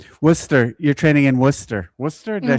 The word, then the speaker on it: Worcester: Worcester, did I say that right? Yeah. Okay, would we in the States say Warchester if we saw it if I saw it?